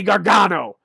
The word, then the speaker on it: Gargano: Johnny Gargano.